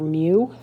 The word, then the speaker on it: mu: So this little symbol right here stands for mu mu. That's how it's pronounced and it looks like that.